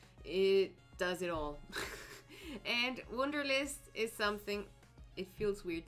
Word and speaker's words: Wunderlist: In German, it's actually pretty, like, Wunderlist. So maybe you call it Wunderlist, maybe you call it, I have no idea, Wunderlist, or if you're wounded.